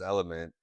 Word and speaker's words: LMNT: we came on about pronouncing that company LMNT as element and I think I confused it earlier. No, no, I said it on purpose cuz yes, it is element, but a lot of